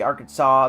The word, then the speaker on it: Arkansas: As a as a welltraveled and real Bubba Hotep can isn't meant to be Arkansas. That's how you say it.